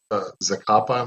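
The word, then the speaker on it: Zacapa: talk about in the book you talk about zakappa my pronouncing it right yep it's a kapa also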